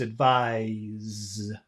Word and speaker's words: advise: advise advise advise advise but the accent is on the final syllable it's never on the first syllable ever advice advice no it's